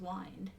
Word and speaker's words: Wind: called when priority no because it's pronounced wined Oh anyway that's a